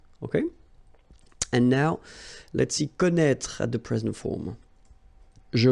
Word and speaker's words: connaît: Well, you pronounce these three forms the same way. Okay, connaît, and then connaît.